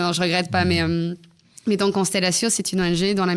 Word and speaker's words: Konstelatio: Donc cette ONG, elle s'appelle Constellatio. Alors ça s'écrit Konstelatio.